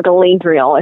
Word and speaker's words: Galadriel: bit easier than blender illa glad triela or Galadriel is how it was pronounced in the in the book Wow and